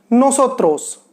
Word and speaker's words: nosotros: Next है नोसोत्रोस। नोसोत्रोस, नोसोत्रास। कैसे pronounce करेंगे? नोसोत्रोस, नोसोत्रास।